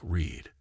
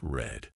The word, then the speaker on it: read: read in the present is pronounced like read but in the past it's red mind blown and why